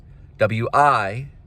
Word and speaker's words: Wilhite: W-I-L-H-I-T-E. That is a spelling. I'm pronouncing it as Wilhite. If you have a different pronunciation, please leave a comment.